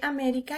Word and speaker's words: América: última penúltima y antepenúltima vemos que américa lleva así la lleva acento en la antepenúltima entonces es una palabra